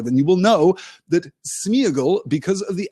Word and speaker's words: Sméagol: slide of tonight's session, the accent on the E tells us that that is supposed to be a double vowel sound. It is not supposed to be united into a single vowel sound, but Sméagol feels weird.